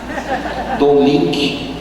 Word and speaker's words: Don Lynch: As pessoas até hoje não aprenderam a pronunciar o meu nome. Dom Lynch.